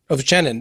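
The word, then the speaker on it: Ovchinin: I'm sure I'm going to pronounce it wrong. Ovechinin? Ovechinin.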